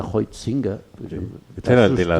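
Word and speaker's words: Huizinga: yo ayer leía a a hinga que se pronuncia Ho singa Este era el de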